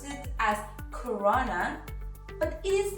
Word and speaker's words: Corona: Now, I know that many people pronounce it as CoRona, but it is not CoRona, it is Corona. Is with a soft R.